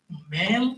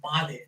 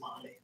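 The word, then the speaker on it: Malé: The capital of Maldives is spelled as Male. That is not like Male, but Male, pronounced as Male, the capital.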